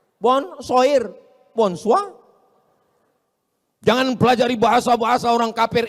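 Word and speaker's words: bonsoir: Bacanya bonjou, bon soir, bonsa.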